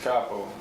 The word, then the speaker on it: Capo: Can I go ahead and tell you? Capo. It's Capo.